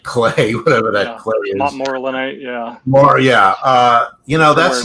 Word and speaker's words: Montmorillonite: So, the idea that you get, I never know how to pronounce it, Montrealite clay, whatever that clay is. Montmorillonite, yeah.